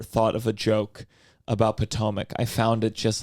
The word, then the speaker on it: Potomac: uh how do you say the name potomac potomac um i looked it up it's quoted as